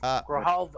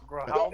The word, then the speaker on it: Grijalva: Grijalva. Thank you. Grijalva.